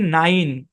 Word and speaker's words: nine: যেমন খেয়াল করুন, একটা উদাহরণ দিই, NINE, এই শব্দের উচ্চারণ কি? নাইন। কি উচ্চারণ? নাইন। বাংলায় যদি লিখি নাইন, খেয়াল করলে দেখতে পারবেন এই শব্দের মধ্যে এই যে শেষে ই আছে, এই ই কিন্তু সাইলেন্ট।